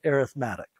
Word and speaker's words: arithmetic: sequences and and it's it's spelled the same way the word arithmetic is but we call it arithmetic an arithmetic sequence is